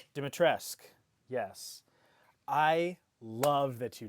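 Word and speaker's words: Dimitrescu: I I don't remember how to pronounce her character name. Lady Du Dimit Dimitresque. Dimitresque.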